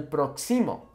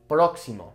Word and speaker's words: próximo: Because like I've been saying, the emphasis naturally falls on a word in the second to last vowel unless we put an accent on it to change that. So this, without an accent, would mean el próximo, okay? But now we have the accent, so the el próximo, okay? The emphasis falling on that first O, okay?